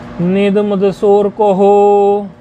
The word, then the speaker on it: नेदमदसोरकोः: नेद, नेद मद, मदसो, नेदो, नेद मदसो रकोहो, ऐसे इसका उच्चारण है।